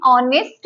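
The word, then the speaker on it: honest: एन ऑनेस्ट मैन, एन ऑनेस्ट person. ये जो है इसमें भी हमारा एच साइलेंट है, और इसमें भी एच साइलेंट है, इसमें भी एच साइलेंट है।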